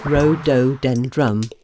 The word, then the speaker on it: rhododendron: Rhododendron is how you say it.